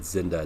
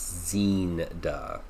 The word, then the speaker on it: Zinda: Or I apologize, I said Zinda, it's Zinda.